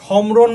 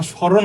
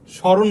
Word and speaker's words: স্মরণ: তুমি কি সম্ররণ বল না স্মরণ বলব? স্মরণ বলবা। ফলার উচ্চারণ যখনই হবে তখন এখানে অনুনাসিক হবে।